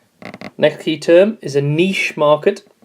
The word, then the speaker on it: niche: key term is a niche market lots of people mispronounce that it's niche this is when we